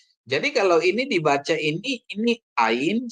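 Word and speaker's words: ayin: Kalau ain itu yang minggu yang lalu kita baca kemarin, ain itu adalah silent ya, silent. Alin dan alef itu adalah silent.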